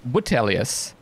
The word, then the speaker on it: Vitellius: it was Vitellius. I guess the V is pronounced like a W.